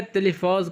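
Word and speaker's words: تلفاز: Television को जो है तेलफाज कहा जाता है। टेलीिफाज यानी कि टी है नहीं उसकी जगह ता लगा लगाते हैं तो सारा वही का वही है।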